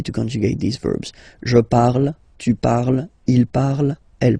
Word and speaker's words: parle: So even if you've got this ent, well, don't hate me, but you won't pronounce these letters. Okay, you have to write them for the plural form, but you don't pronounce them. So you get il parle, elle parle.